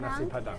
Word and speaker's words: nasi padang: How do you say it? Nasi padang? Nasi padang.